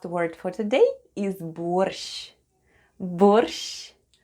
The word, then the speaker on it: борщ: And the last word for today is БОРЩ /borsh'/ The first sound is /b/, then we have /o/, /r/ and /sh'/. And all together it's БОРЩ /borsh'/, /borsh'/.